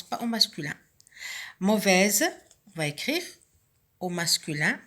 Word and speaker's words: mauvais: Mauvaise, on va écrire au masculin mauvais. Et la lettre finale muette, c'est le S, qui se prononce ici au féminin, mais qui ne se prononce pas au masculin.